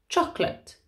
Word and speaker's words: chocolate: comfortable comfortable chocolate okay so spelt chocolate but said chocolate chocolate interesting okay so this